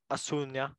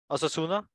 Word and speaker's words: Osasuna: Fourth place, Asunia. How do you say that? Fourth place, Asunia? Osasuna? Osasuna. Osasuna. Okay, got it.